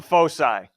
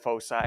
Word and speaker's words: foci: about are called the foe sigh all right foci folks I everyone's I've heard it pronounced both ways alright folks I let